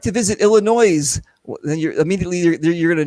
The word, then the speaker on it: Illinois: So the S is silent. So if you're looking and you go, well, I'd like to visit Illinois, well, then you're going to know that you're not from there anyway.